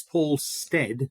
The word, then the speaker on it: Stead: It's Paul Stead, rhymes with bread or dead, which is a funny thing.